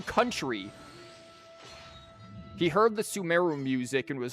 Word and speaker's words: Sumeru: accidentally said, like, what, Samaro, or whatever. He just came over to be like, actually, it's pronounced Sumeru.